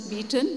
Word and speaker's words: Bethune: exists it's called the Bethune school and and it was founded by the English John drinkwater Bethune whom I believe in England is pronounced as beaten but we bengalis have got around that and he was the